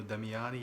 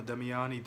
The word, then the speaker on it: Damiani: spaghetti western directed by Damian damiano damiani yeah that's a mouthful but I think that's the way you pronounce the director's name this one stars Lucas